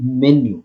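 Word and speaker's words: menu: सो इसको आप मीनू ना बोल के मेन्यू बोले तो वो थोड़ा सा बेटर होगा।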